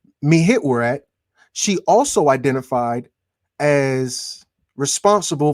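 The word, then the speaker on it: Mehet-Weret: Mehit Weret. Like the third way is spelled is the way I'm more familiar with it.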